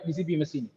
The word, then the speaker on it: Giuseppe Mazzini: Okay, as per the Italian pronunciation, it is a GCP, right? GCP Mazzini.